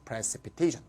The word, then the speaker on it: precipitation: TION은 바로 앞에 액센트가 있으니까 precipitation.